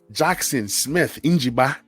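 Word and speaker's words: Jackson Smith-Njigba: Number 6, give me my brother from another mother, my brother from the motherland, Jackson Smith Njiba.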